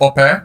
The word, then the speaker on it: Ope: So traditionally it's pronounced Ope. There's slight different sort of intonation there. It's like changed there. Ope. But we might say in England OP or something, but that's incorrect apparently. He'll explain why he says it in that way. But it's Ope rather than OP.